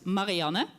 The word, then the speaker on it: Marianne: In the Dutch pronunciation, that is Marianne.